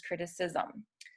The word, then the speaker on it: criticism: And as we discussed earlier, a C can sound like an S when it's followed by the I. So it becomes, instead of critic, it becomes criticism.